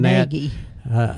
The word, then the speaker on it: Carnegie: You go to Carnegie Steel, and when Frick was running Carnegie. Carnegie, yes, you got to say it right, Carnegie Steel.